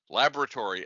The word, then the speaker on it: laboratory: fourth word is laboratory to use the british pronunciation laboratory l-a-b-o-r-a-t-o-r-y now we'll take